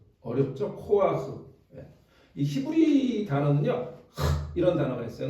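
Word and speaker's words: כֹּחַ: 코라고 하는 말이에요 따라해볼까요 코아흐 예 어렵죠 코아흐이 히브리 단어는 이런 단어가 있어요 근데 우리가 발음할 수 없는 단어에요이 사람들의 그 구강구조와 우리가 다른지 모르지만 이렇게 해갖고 이게 약간 위에서 이렇게 뜨는 느낌의 발음인데 어쨌든 흐 그니까 우리가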